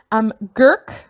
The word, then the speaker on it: Gurk: Gurk, which rhymes with flirt, apparently.